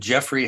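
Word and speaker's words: Geoffrey: British suspense writer named Jeffrey household and he's that's spelled with a G g-e-o-f-f-r-e-y I knew that too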